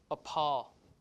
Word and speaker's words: appall: Meaning that we aspirated the P, we aspirate the P when it occurs in the stress syllable, you see? Appall, right?